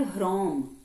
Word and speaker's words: ह्रोम: देखिए, वैसे ये जो वर्ड होता है, दिस इज कॉल्ड ह्रोम, HROM। ठीक है, पर जब हम उसको प्रोनाउंस करते हैं, तुम ज्यादातर कम इन साइड, तो हम प्रोनाउंस करते हैं उसको रोम, ह जो है वो हमारे अंदर ही रुक जाता है। ह होता है लेकिन ह बहुत छोटा होता है, राइट।